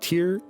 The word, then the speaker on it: Tyr: bit from the wiki tyr pronounced tear tear was the lawful